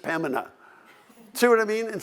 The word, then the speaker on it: Pembina: You know, and then we've been corrected, and then we said, no, it's Pembina. And now they say, no, you don't even pronounce the B, it's just Pembina.